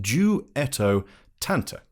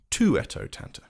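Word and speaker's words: Duettottanta: to explain it's pronounced dueto Tanta not toot tant firstly because it's Italian and secondly Alpha says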